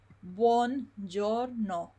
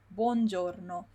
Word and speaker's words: buongiorno: You don't say je, you say j. So it's buongiorno, buongiorno, buongiorno. When you have a G, like this one, and an O, again, the I is silent, because the I just helps us to make the sound j.